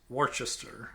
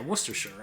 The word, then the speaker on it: Worcester: you don't pronounce like there's plenty of Americans who would call this warchest sure but you're like and maybe that's acceptable I don't know the English I think just call it maybe they call this Worcester and this werer yeah werer is what this is not Worcester I think but it's mostly silent letters so Le these are